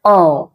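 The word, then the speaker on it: aww: इसके प्रोनाउंसिएशन क्या होती है, ओ, यानी कि क्यूट, क्यूट या स्वीट।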